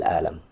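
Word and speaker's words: ألم: Pakai a ya bukan pakai a. Bukan pakai hamzah bukan pakai ain. Ana asuru bil alam. Saya ngerasain sakit nih. Ana asyuru bil alam tuh alam pakai a. Makanya ee pelafalannya harus tepat gitu. Hamzah dengan ain itu itu dua huruf yang berbeda.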